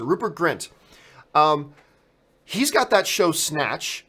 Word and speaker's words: Rupert Grint: of all Rupert get Rupert Kent has if I by the way am I saying his name right hall second dududududu is it Rupert Grint sorry I mispronounced it Rupert Grint he's got that show